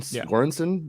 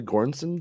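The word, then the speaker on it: Göransson: synth uh tune that Gordon gorenson that'll be Goranson is that is how you say his name um super good yeah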